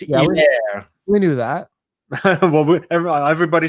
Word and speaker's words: Helaire: And it's Helaire. It's Helaire. You do not pronounce the H. It's like they're French. It's Helaire.